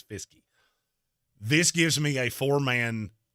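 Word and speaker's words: Fiske: on the screen and it screams Fisk to me but his name is fisky this gives me a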